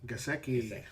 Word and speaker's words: Gesicki: Gesicki.